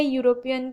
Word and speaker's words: European: तो यहाँ पे स्पेलिंग स्टार्ट होती है यूरोपियन की EUROPEAN, ठीक है।